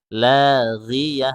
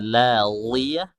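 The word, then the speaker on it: لا غية: Ghi itu huruf gha, huruf isti'la. Ketika dia kasrah itu dikurangi ketebalnya. Makanya bacanya la ghiyah bukan la ghiyah. Jadi kalau ada yang baca la ghiyah itu salah, ya, kurang tepat.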